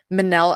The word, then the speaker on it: Mennell: friend yeah but uh Manel is the pronunciation of my name gotcha okay that's I